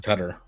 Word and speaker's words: Qatar: I think it's actually pronounced Qatar, but I call it Qatar.